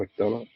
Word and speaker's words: McDonough: McDonough.